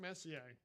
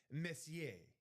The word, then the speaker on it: Messier: I have to pronounce it as it's French. Messier on a beautiful Rangers.